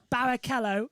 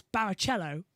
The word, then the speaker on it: Barrichello: Well, most of it was Barrichello, but it's actually Barrichello. Yeah, It's Rubens Barrichello, not Rubens Barrichello.